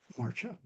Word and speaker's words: Maartje: Please welcome Maartje. Thank you, Ed. Maartje, indeed, well pronounced.